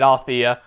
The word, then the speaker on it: Althea: Okay, so I was pronouncing it right, Althea.